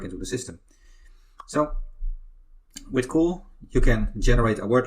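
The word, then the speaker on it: CeWL: can use fantastic tool is called cool but it's spelled differently it's called spelled c WL so that tool why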